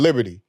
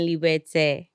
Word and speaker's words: Liberté: I pronounced it Layer in Liberty. Yes. But what is it? What's the correct pronunciation? The correct pronunciation is Layered in Liberté. And Liberté is your last name.